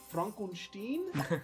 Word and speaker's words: Frankenstein: It's actually pronounced Frankenstein. It's a German name.